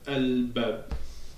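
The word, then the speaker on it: الباب: Donc, ba, c'est lunaire. Donc, ça veut dire que on va prononcer le al à cause de al-qamar. Donc, on va dire al-bab.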